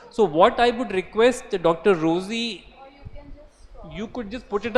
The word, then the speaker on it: Rosie: Rosie or Rousey, am I pronouncing? Rosie, because the spelling is a little different.